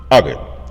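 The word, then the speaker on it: Agade: Agit spelled A G A D E but is pronounced agit.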